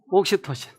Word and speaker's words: 옥시토신: 옥시토신. 지난번 우리 어떤 집사님은 옥신각신이라고 그러더라고요. 아니, 옥시토신인데 왜 발음을 저렇게 할까?